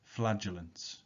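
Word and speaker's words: flagellants: think it shows and that word there at the top is pronounced flagellance study the image carefully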